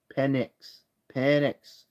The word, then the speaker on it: Penix: Jr Michael penix Jr penix I said penix penx penx that's how you say it Michael penck anyways